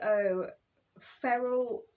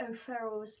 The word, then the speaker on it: O'Farrell: um but i'm here to review uh maggie oh feral i'm sorry brother i'm pronouncing the last name wrong mario ferals maggie o'farrell's hamnet hamnet not hamlet although there is a